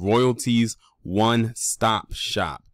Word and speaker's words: Royalties One Stop Shop: I actually mispronounced the name of her business because I was reading it all as one word. But the name of her business is called Royalties One Stop Shop.